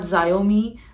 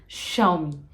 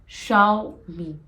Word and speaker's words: Xiaomi: is a Chinese brand and it is not xiaomi not xiaomi it is xiaomi Xiao me it is not xiaomi it is Xiao me xiaomi again many people